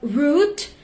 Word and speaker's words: root: Loud, pout, quote, and route, but root, make it rhyme with shoot and fruit.